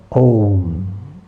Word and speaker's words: Om: So, A, U and Ma, Om. Why is the last two syllables? Because if you need to say anything more, you have to open your mouth once again. So it all ends. Om.